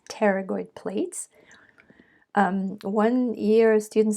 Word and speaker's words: pterygoid: blades are called the pterygoid plates the p is silent so you don't say pateragoid but it's pterygoid plates one year student